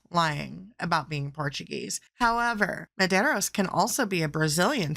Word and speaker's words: Medeiros: Medeiros. That is spelled Medeiros.